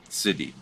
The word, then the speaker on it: Siddhi: So it's spelled Siddhi, city, right?